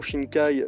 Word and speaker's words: Shinkai: La prononciation Shinkai, la vraie définition, c'est la mer profonde.